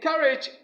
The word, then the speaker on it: courage: In courage, we stress the first syllable.